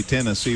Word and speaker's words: Tennessee: you're from down there you see Tennessee with an accent on the 10 not the C so Franklin Tennessee thanks